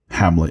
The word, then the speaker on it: Hamlet: where that Hamlet, and I do believe it's a soft TH at the end, I believe. Yes. I didn't know that. I felt like they were pronouncing it more like Amleth in the film, but I did read later that it is supposed to be a soft, yeah.